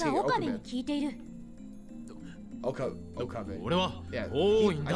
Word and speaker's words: Okabe: 聞いている Okabe. 俺は Yeah, 法院 I だ keep pronouncing it wrong.